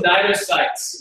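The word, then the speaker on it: cnidocyte: So, what are those nidocytes? What do they do? What do nidocytes do? Yeah. What does it mean? What is a nidocyte? The CN, the C is silent.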